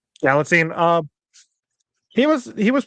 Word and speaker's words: Galitzine: Uh sorry, Galitzine. Nicholas Galitzine. Galitzine uh he was he was pretty good as He-Man, although I do have some issues with his character.